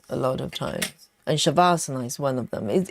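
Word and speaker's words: savasana: It's spells um without h. is s a v a s a n a shavasana but it's Sanskrit you know um the ancient in um Indian term so in yoga if you've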